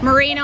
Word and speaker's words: Moreno: please Sergeant my first name is Moreno how do you spell that m-o-r-e-n-o it's right here man you related